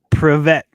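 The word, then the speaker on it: Привет: So I don't even know how to say it, but it's Privet.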